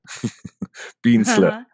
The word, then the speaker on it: Bientzle: say it like be like sappy and step bean slur mean slur yes okay beat slur both gonna say yes beat slit yes for